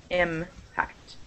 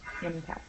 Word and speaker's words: impact: It's on the first syllable. Impact. Impact.